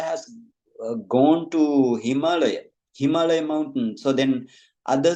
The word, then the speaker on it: Himalaya: what is the Mount Himalaya Himalaya actually not himala right himala mean it is the wrong pronunciation and uh it is the Himalaya right Himalaya Mount Himalaya